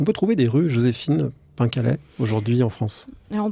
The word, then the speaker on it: Pencalet: prononce dans le Finistère en breton en fait on accentue les les consonnes de fin de syllabe donc on dit Pen